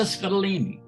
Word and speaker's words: Scottoline: have the incomparable lisa scadolini now did i pronounce that right in scotland that's perfect my dad always says it rhymes with fettuccine so you did perfectly